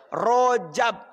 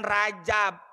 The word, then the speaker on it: Rajab: Rojab. Rejab. Ya nggak apa-apa, mungkin cara pelafalannya intinya sama, Rojab. Di Indonesia kan Rajab.